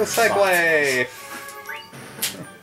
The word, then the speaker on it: segue: No segue! That's not a segue. That's how you pronounce it.